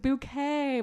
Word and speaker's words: Bucket: was named hin bouquet Well her name's really hin bucket she pronounces it bouquet but the whole backstory